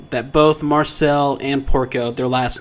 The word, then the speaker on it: Porco: i guess and am i saying it right porco yeah i guess that's why he doesn't like